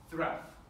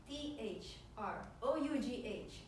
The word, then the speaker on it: through: his day's work was thruff. It started. Hold it, Shakespeare. Through? T-H-R-O-U-G-H is pronounced through.